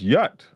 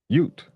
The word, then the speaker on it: ute: Oh, it says yut. Ute. I said it right.